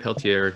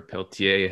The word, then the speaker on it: Peltier: Leonard Peltier, or Peltier, however you choose to pronounce it, he was my